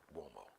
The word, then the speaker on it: Uomo: that's m-i-g-l-i-o-d-i-m-a-r-i-o-u-o-m-o-m-i-g-l-i-o-d-i Mario m-a-r-i-o Uomo is pronounced womo Mario it's an Italian name thank you for watching